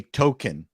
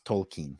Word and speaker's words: Tolkien: that's more gibberishy you you also say token as in as opposed to that's the way it was always pronounced to me no it's it's tolkien i know tolkien i tried i've been trying to do it smoking a doobie token see token it's not token that and also the